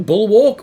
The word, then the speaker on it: Bulwark: the new Void Champion Bulwark, or Bullock, as I feel like it should be pronounced, 50 gems, an XP booster, 3 energy refills, and an Ancient Shard.